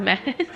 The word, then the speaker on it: Mads: pronounced me and then this guy's name is mads but it's pronounced mess thank goodness your parents